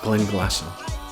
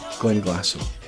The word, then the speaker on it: Glenglassaugh: But the easiest way to pronounce this distillery is just to drop that GH at the end and just simply say Glenglassaugh. Glenglassaugh.